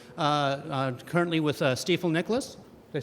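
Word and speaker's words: Stifel Nicolaus: as an analyst uh uh currently with uh steifel Nicholas did I say it right you did I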